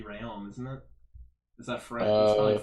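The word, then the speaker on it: Rheaume: the first yeah uh the last name is r-h-e-a-u-m-e which i believe would be rayon isn't it is that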